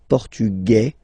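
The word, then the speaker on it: portugais: The Feminine form okay masculine portug you don't pronounce the S feminine form portuges you pronounce this z sound okay and then remember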